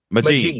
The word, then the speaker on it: Mejean: How do you pronounce that? Mejean. Mejean.